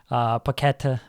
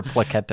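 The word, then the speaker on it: Paquetá: Paqueta. that's okay. You What- called me out for Shawarma. I don't Shawarma. need to call you out for Plaqueta.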